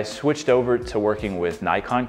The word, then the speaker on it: Nikon: over to working with Nikon cameras or Nikon if you want to say it properly in Japanese so my very first